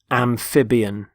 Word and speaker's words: amphibian: first word is amphibian amphibian notice the stress on the middle syllable amphib amphibian they're animals